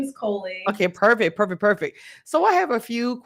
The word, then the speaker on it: Coley: I don't want to say your name wrong. Is it Coley? Yeah, my name is Coley.